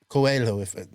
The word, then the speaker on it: Coelho: Coelho.